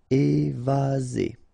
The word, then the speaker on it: évaser: Remember, one S between two vowels. Z. Évaser.